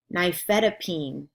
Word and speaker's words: nifedipine: email them to me here is week 9 pronunciation words clonidine cozaar digoxin endure all indicate nifedipine nitroglycerin propranolol riff mall simvastatin and they have